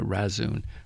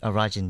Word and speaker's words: Rajin: Chinese were pouring a lot of money into Rasun, the northernmost port. I'm sure I say it wrong. How do you say it? Rajin, you mean?